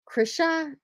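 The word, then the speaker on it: Chrisha: sold is this uh krisha c-h-r-i-s-h-a chris uh i think that's how you pronounce it playful plush white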